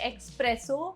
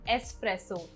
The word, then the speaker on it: espresso: बहुत लोग इसे espresso बोलते हैं, but the correct pronunciation is espresso.